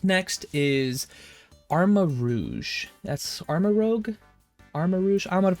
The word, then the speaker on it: Armarouge: Armarouge? I'm going to pronounce it Armarouge.